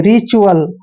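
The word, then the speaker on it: ritual: च्यूअल, ऐसे रिचुअल।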